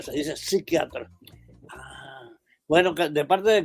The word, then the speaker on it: psiquiatra: no está señor pero no se dice psiquiatra la p es muda la p no se no se pronuncia se dice psiquiatra Ah Bueno De parte